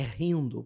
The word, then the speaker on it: Hindu: Esse povo, né, que é a a palavra, a gente fala hindu, mas não é hindu, é rindo, porque o H em sânscrito é som de R.